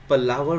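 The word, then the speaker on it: palaver: इसका उच्चारण क्या होगा? पलावर होगा इसका उच्चारण, ध्यान रखना, ठीक है।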